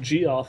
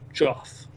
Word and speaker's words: Geoff: I'm also being told that it's not Geoff, it's just Joff. It's I guess it's a British Geoff is like the British way to say it or spell it.